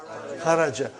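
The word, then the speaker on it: خرج: Say it properly. Kharaj. With sukun. You won't say with? You will say kharaj.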